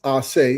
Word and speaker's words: Ace: It's actually pronounced Aay and my last name is, but Aay kind of turns to something else.